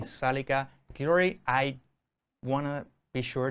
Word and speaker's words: Zalika Guillory: Me place presentar y estar aquí esta noche grabando con nosotros en el estudio de Webneticos estudio a Liman y Zalika Guillory.